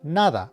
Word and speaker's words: nada: It is in the 3rd person singular future tense because it's going off the singular word nada or nothing.